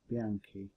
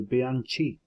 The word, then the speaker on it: Bianchi: called the Bianchi identities bianchi identities and I discover that I've been saying it wrong all my life all my life I've called them the Bianchi identities but it's not is Bianchi okay so what is